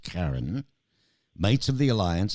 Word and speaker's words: Kairn: i r n okay I thought it was K but it is pronounced Karen mates of the alliance